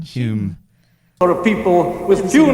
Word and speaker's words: Home: Maybe it's Home? just a posh way of saying Hume.